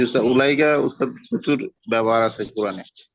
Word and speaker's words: أولئك: আর জালিকা তিলকার জমা হচ্ছে উলাইকা। উলাইকার মধ্যে ওয়া এর উপর কিচ্ছু হবে না, মানে এরকম লিখতেন, আমি যেভাবে লিখতেছি উলা, ওয়াটা সাইলেন্ট করবো, জজমও হবে না, কিচ্ছু হবে না, সাইলেন্ট।